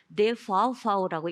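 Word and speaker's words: DVV: 베르트 신젠 독일 시민대학 연합이라고도 하고 저희가 독일 성인교육 국제기구라고도 부르는 DBB라고 영어로는 읽고요. 노이치르는 데파우파우라고 읽기도 하는데 40년 가까이 한국의 평생교육계와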